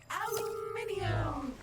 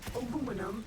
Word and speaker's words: aluminium: Aluminium or aluminum as Americans pronounce it incorrectly, but that doesn't make it any less useful.